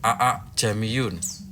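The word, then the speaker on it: أأعجمي: walau ja'alnahu qur'anan a'jamiyyan laqalu laula fussilat ayatuh a'jamiyun wa arabi. Cara membacanya adalah dengan menyambungkan dua hamzah kotok sehingga dibaca panjang.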